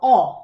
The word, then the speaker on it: ho: Io ho, the verb to have, where we don't pronounce the H and we pronounce the O as an open O.